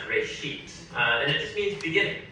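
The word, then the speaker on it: בראשית: Genesis comes from a Hebrew word. It's pronounced reshit, and it just means beginning.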